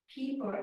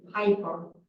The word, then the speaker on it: Pieper: But the IE would be pronounced Pieper in German and Yeah. probably Piper in English.